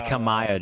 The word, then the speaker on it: Kamaya: It's Kamaya, Joe, and you said it right the first time.